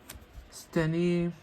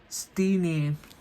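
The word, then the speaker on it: Steenee: I got another Rowlet, Scatterbug, Seedot, Skidoo, Skiploom, Snover, Spewpaw, Sprigatito, Steny. Oh wait, it's pronounced Steeny.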